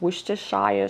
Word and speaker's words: Worcestershire: you pronounce this i'm i'm going to say worcester sauce i know that's wrong i think it has four syllables worcestershire sauce so you want